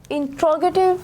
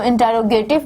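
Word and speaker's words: interrogative: इंट्रोगेटिव sentences. Students ये word है इंट्रोगेटिव, some students इसको इंटरोगेटिव बोलते हैं, बट the actual pronunciation is इंट्रोगेटिव।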